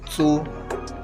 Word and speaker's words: つ: In this lesson, we learn hiragana characters ta, chi, tsu, te, to. Notice that the ti syllable becomes chi and tu syllable becomes tsu.